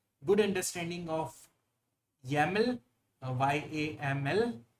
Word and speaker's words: YAML: Uh you should have a good understanding of YAML, uh Y A M L. It's pronounced as YAML.